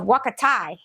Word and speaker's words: Huacatay: it foreign teaspoon of wakatai did I say it right it is not how it you don't pronounce it the way it looks well maybe in Spanish you do but not in English so that I got